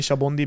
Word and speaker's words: Sabaody: So if people are curious what the correct pronunciation, it is actually Shabondi because that's soap bubble in Japanese.